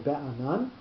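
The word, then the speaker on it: בענן: word number 3 in be'anan. We'll remember that Hebrew words in general will have the accent on the last syllable.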